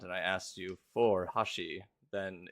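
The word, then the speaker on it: 橋: There'd be like a kanji for bridge, and it would be read as hashi.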